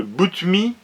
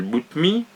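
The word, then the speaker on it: Boutmy: gloire au 19e siècle qui s'appelle émis le boot me s'écrit bo utm y butine bootmii né en 1835 qui meurt en 1906 qui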